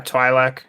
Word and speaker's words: Twi'lek: Twi'lek? Twi'lek? Yeah, Twi'lek.